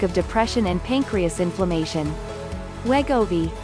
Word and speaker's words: Wegovy: has a risk of depression and pancreas inflammation wegovi pronounced we go b is a synthesized version of a gut hormone